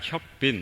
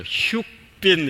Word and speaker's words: 혁빈: 제가 처음에 영국에 갔을 때 제 이름을 그냥 혁빈 이렇게 썼습니다. 그랬더니 사람들이 제 이름을 발음을 잘 못하더라고요. 혁빈 뭐 어렵게 발음하고 어떤 사람은 뭐 흉빈 이렇게 읽기도 하고 그래서 안 되겠구나, 혁자가